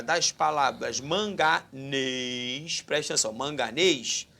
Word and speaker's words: manganês: Sobre a acentuação gráfica das palavras manganês, presta atenção, manganês, sílaba tônica, aí ó, é a última, oxítona, oxítona terminada em ES.